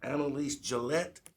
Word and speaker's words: Annalise Gillette: Chair would like to acknowledge the following here representatives of the applicant or the applicant, Annalise Gillette. You got it right. Most people don't pronounce my name correctly.